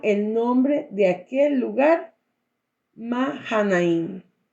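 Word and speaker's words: Mahanaim: nombre de Aquel lugar mahain porque no se pronuncia la h en el hebreo también y envió Jacob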